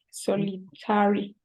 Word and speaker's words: solitary: Solitary. So is correct or incorrect? It is incorrect, solitary. It should be a solitary. When we have ARY, the pronunciation is airy.